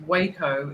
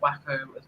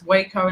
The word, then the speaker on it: Waco: said three times and I believe that's pronounced Waco in Texas and not wacko I think it's wayco yeah and was originally